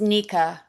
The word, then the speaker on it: Nicca: And if you don't mind, my name is pronounced Nicca. Nicca, I'm Yeah, sorry. Thank it's you for okay. clarifying that. It's all right. It's a common error.